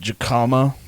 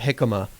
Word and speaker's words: jicama: Tomato and diarbol dashi with jicama. That's a J. I know, it's Spanish. It's a Spanish Ah, jicama.